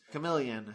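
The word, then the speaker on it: Kamelion: Chameleon with a K. It's spelled Came Lion.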